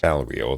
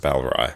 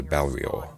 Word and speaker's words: Balrior: Balrior, that's the name. I actually wasn't pronouncing it too wrong. I was saying Mount Balrai, so Balrior.